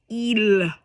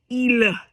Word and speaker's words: il: So one thing that we want to be careful of is don't say il Don't drag the tongue. Il is wrong. It's il. Il. So the L is kind of silent.